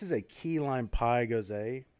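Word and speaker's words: Gose: a key lime pie goes a from westbrook brewing uh company and it is delicious it's not go it's not french it's german german goes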